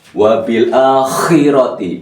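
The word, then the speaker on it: وبالآخرة: Wallazina yu'minuna bima unsila ilaika wa ma unsila min qablik wabil akhirah, ngorok ya, itu kho bukan kha ini, kho. Wabil akhirati bukan wabil akhirati.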